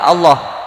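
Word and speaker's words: الله: tangan] setelah harokat fathah wa kemudian ada lafadz Allah maka lafadz Allahnya dibaca tebal Jadi kalau ada yang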